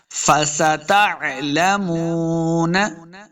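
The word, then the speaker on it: فَسَتَعْلَمُونَ: پڑھنا ہے۔ توکلنا فستعلمون، سین پہ سیدھی کی آواز آئے گی، تا کو تلفظ کے ساتھ پڑھنا ہے۔ فستعلمون، میم پیش واو، مو، واو کو جب پڑھیں گے دونوں ہونٹ گول کرنے ہیں تب واو کا مخرج سے ادا ہوگا۔ لامو، واو مد ہے،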